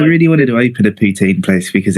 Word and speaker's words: poutine: You pronounce poutine differently like and not the original intended way. It's supposed to it sounds more like poutin. Putin cuz that's the the French Canadian pronunciation.